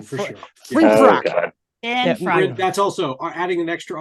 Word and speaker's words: Finfrock: We're going to be talking to Finfrock, dude. Nuka Break. So, close. Finfrock. You almost had Finfrock. Did I say Finrock?